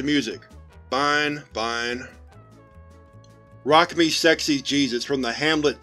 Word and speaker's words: Jesus: Rock Me Sexy Jesus from the Hamlet 2 soundtrack can be heard playing from SCP-029-J3. McIntyre approaches the car. Hi, Jesus? Pronounced as the Hispanic form.